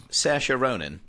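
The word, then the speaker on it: Saoirse Ronan: say the lead actress's name so I don't mispronounce it completely Sasha Ronin thank you she's fantastic I didn't even know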